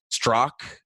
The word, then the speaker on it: Straka: online oh yes so my tricky last name is struck but it's spelled Straka so people can find